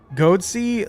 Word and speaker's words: Goatsy: Goatsy. Like it's spelled like goat and then the letter C, but clearly what they mean is what you just said, Jack.